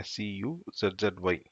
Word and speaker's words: SCSI: இப்போ நம்ம ப்ரொனன்சியேஷன் வந்து பார்த்தீங்கன்னா SCSI அப்படின்னு சொல்லுவோம், SCUZZY அப்படி தான் நம்ம ப்ரொனவுன்ஸ் பண்ணுறோம் இதை.